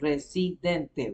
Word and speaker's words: Residente: so you and you and in Spanish every syllable you pronounce it. So Residente, resident. It's the same way of spelling, except for the E.